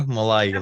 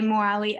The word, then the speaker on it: Mollaei: Am I pronouncing that right, Sam? That will do. Mollaei, like Hawaii. Hawaii, Mollaei.